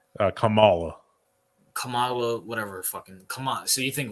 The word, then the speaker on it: Kamala: How the fuck do you pronounce this bitch's name? Kamala.